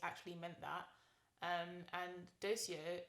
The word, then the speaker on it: Doceo: meant that um and docio actually is pronounced as dokio in latin and it means i teach so that's why we